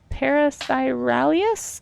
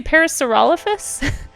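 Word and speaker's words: Parasaurolophus: wait parasite Paras wait what are you saying parisy alus oh are you are you trying to say Pariser olfus are you trying to say this yeah look up a Paras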